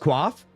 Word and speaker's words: coif: Coif is pronounced quaff? Yeah, but what if I like saying coif?